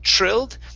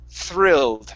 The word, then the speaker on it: thrilled: Let's practice the THR sound. So instead of trilled, it's thrilled. Make sure that your tongue is between your teeth.